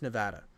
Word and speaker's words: Nevada: pronounced any other way it's pronounced Nevada it's in the Constitution I like they it was so annoying for nevadans that they put it in their constitution how to say the state correctly like the hooked